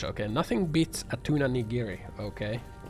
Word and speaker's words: nigiri: Nigiri.